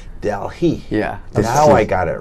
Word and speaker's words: Delehei: His name pronounced Delehei. The meaning of the name is that world, Earth, planet. Okay, the Earth, the planet. Yeah. Okay, now I'll get it right. Delehei.